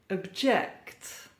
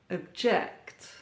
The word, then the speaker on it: object: Stress or emphasis on the second syllable, and we have a verb. Produce. Produce. Contest. Contest. Converse. Converse. Conduct. Conduct. Object. Object. Console. Console. When we have the stress on the first syllable, then we have a noun or an adjective.